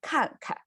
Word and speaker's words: 看看: We say 看看. So pronunciation is 看. And the second 看 is a light tone. It's still like falling tone, but it's lighter, right?